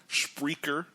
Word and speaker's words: Spreaker: a smartphone download spreer spreer is speaker with an aura and let me spell